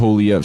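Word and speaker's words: Poilievre: Poliev. So Pierre Poliev. Pierre Poliev.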